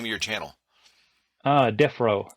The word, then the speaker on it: Defrowe: of your Channel uh death row it's a play on word so my last name is RO and defro is you know where criminals go